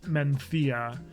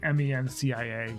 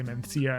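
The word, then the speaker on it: Mencía: The Spanish pronounce this Mencia. It's like Mencia. You might see it and say Mencia, and that would be fine too.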